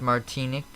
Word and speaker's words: Martinique: Blue tag welcome to the stream bro it's pronounced martinic right okay thank you Iberia 737 always I